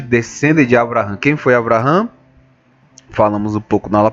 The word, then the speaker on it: Abraham: o pai Abraham que nós traduzimos como Abraão mas a pronúncia certa é Abraham né para o judeu